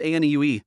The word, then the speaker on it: Ane: A new is a term for older sister. A formal and respectful way of saying it. Pronounced anu.